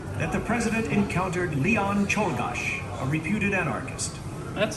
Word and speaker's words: Czolgosz: an orderly procession, that the president encountered Leon Czolgosz, a reputed anarchist. That's how you While one of pronounce it. Mr. McKinley's guards was distracted, Czolgosz had arrived at the president, who extended his hand in greeting. Czolgosz.